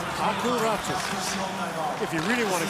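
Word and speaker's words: Räty: more of a new sound, so it's Aku Ratu. If you really want to get technical, it's Ratu.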